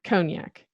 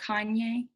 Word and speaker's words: cognac: piece of news so Kanye that's cognac yeah not like Kanye not like Kanye cognac